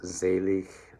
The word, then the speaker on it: selig: right so there's z sounds zelik zint all right um and then zent ends with a t um sounds of an